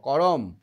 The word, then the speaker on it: কর্ম: একটু দীর্ঘ হচ্ছে তো কর্ম আমরা তাড়াতাড়ি ক আর ম আর র টা উচ্চারণ করছি তাই না কর্ম দেখো র বলতে বলতেই ম টা উচ্চারণ হয়ে যাচ্ছে সেই জন্য এখানে কয়